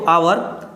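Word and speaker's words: hour: ही यहां पे देखिए एच से शुरू हो रहा है लेकिन यहां एच क्या होता है साइलेंट होता है आप पढ़ते क्या इसको आवर है ना तो आवर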